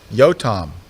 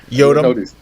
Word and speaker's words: Yotam: And also, I'm going to call you from now on Yotam. Am I saying it right now? Yeah. How did you call me before? Yodum. Yodum. It's the same.